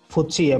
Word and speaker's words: FTSE: difilter lagi oleh si Khushi apa ya atau FPse tadi kalau gitu tulisannya ftse dibacanya versi itu ya itu sudah difilter